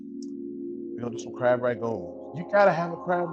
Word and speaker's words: Rangoon: How to make crab rangoon. Rangoon, R-A-N-G-O-O-N. Rangoon. We say ragoon. So it just all depends on where you're from, you know, and how you say it.